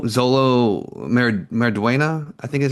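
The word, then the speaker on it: Xolo: from, uh, Cobra Kai, uh, how do you pronounce his name? Uh, Zolo. Zolo. Zolo.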